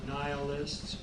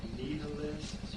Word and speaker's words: nihilists: so in that sense they are nihilists or nalists you might have heard it pronounced that way now if truth doesn't